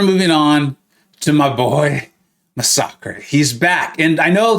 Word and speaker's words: Masacre: It's not Masacre, okay? I get it. I understand the confusion. I really, trust me, I do. but it's Masacre. Look at how it's spelled. Look at how Massacre is spelled in the English language. And then you can even go and look at the video Kabam did for this champion. He speaks Spanish.